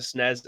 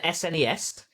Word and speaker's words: SNES: And an SNES. That's a paragraph. I'll just go with a SNES, one syllable, please.